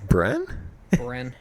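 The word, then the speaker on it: Bryn: a for some reason no one can pronounce my goddamn name bren-bren b ry n b ry n that's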